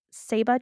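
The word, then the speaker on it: ceiba: had to sleep for seven days underneath the Saba tree which is spelled c e i b a and this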